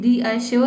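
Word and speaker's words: reassure: इसको हम पढ़ेंगे, देखिए पहले री पढ़ेंगे उसके बाद अश्योर, ठीक है, रीअश्योर।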